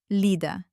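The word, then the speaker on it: Лида: Lida. The stress is on the first syllable on the letter E.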